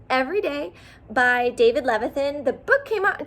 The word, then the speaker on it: Levithan: at some point i will and also david leviton levithan ah say his name right caitlyn i should